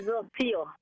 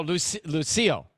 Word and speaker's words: Rocio: It's Rocio. Oh, Lucille. It's like Rosie with an O.